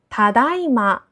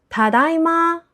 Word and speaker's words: ただいま: ここで注目すべき点は、音程のアクセントです。「ただいま」とは「今」または「まさに今」という意味です。